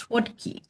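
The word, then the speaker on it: słodki: So, because it's Polish, it's pronounced swadi and it means sweet in Polish.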